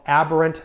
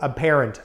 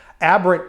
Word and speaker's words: aberrant: defense argue something called aberrant behavior or apparent behavior aberrant behavior is how i pronounce it means that the crime